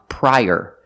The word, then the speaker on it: prior: donuts also this word this word is pronounced prior using the long i pry and er like Burger link The Sounds together prior use the Y sound like in yellow to link the two vowels I prior prior prior